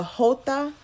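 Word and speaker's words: jota: your question if anything the hota is basically how you say it it's the description of hey Target is is how you say the letter J in Spanish so literally what this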